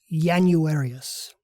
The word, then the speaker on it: Januarius: This means that the first of our 2 new months was pronounced as if it started with the letter Y, Januarius.